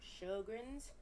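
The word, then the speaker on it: Sjögren's: There's, okay, so that's how you pronounce it, and that's how you spell it. Sjogren's. And it's S-J-O with the two dots, G-R-E-N, apostrophe S. Living with Sjogren's.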